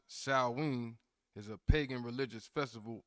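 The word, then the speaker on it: Samhain: spelled just so we can get it it's pronounced Sween but it's spelled s a m h i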